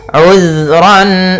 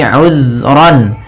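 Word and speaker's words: عُذْرًا: Kemudian ayat selanjutnya, uzran aw nuzra. Di sini uzran, hati-hati dalam pelafalan zal, usahakan di sini jangan sampai memantul, jangan uzra gitu ya, tapi uzran.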